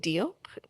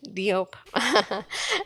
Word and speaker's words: Diop: to welcome the brilliant David doop excuse me I ruined the pronunciation deid Diop and maduk Kaza to our